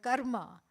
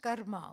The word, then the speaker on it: karma: is because there is a vast order called karma and yeah it is it is pronounced Karma okay not karma karma is when you have